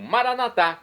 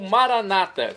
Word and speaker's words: maranatá: E agora eu clamo maranatá, como dizemos nós católicos, ou maranata, como dizem nossos irmãos separados, os das comunidades evangélicas ou protestantes. Eles pronunciam maranata. Nós católicos falamos maranatá, mas o significado é o mesmo.